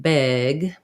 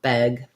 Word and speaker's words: beg: Don't say it like an A, like beg, but rather You got to relax the tongue, beg.